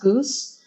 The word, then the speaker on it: GOOS: they were typing go oh go actually it's pronounced Goose um and windows and go build and like